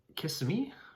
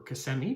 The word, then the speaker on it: Kissimmee: And so this is in Kissimmee, Florida, or Kissimmee, depending on how you pronounce it.